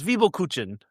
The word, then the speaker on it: Zwiebelkuchen: It's Zwiebelkuchen. Zwiebelkuchen. Zwiebelkuchen.